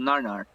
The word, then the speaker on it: nanar: It's called nanar.